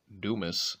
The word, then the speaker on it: Dumas: And Tony Dumas is how you pronounce that.